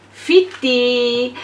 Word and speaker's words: Fittea: È arrivato anche su Due Cuori Una Cappa, Fitti. E allora, questi influencer... Ma è scritto Fittea. Fittea, ma invece si legge Fitti. Wow!